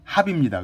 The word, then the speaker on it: 합: 그릇 명 자가 들어갔는데 정확한 발음은 합입니다 근데 이제 보통 경매에 대해서 함 함 그러는데 합이 맞습니다 대명 선동 경제관지가 있고요